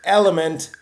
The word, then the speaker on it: LMNT: our friends at element lmnt pronounced element is healthy hydration it's